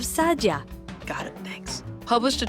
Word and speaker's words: Saadia: RAV Saadia for example it's pronounced RAV Sadia got it thanks published